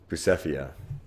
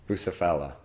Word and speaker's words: Bucephala: Bucephalia. Bucephala.